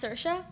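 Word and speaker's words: Saoirse: me an interview of sersa ronin and where she shows us how to pronounce her name it's spelled s a o i Rie but it's pronounced sersa the interview is actually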